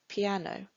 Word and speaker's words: piano: stress for example here piano has three syllables and the stresses on the second syllable a piano this should be possible